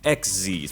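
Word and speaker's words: Xyz: of the exes that's exes pronounced like exceed don't ask me why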